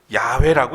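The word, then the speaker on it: Yahweh: 단어로 그렇습니다 그렇죠 그러니까 영어로 표기하면 yhwh 이렇게 표현합니다이네 글자 이것을 야훼라고 읽었습니다 과거부터 시작해서 현재 그리고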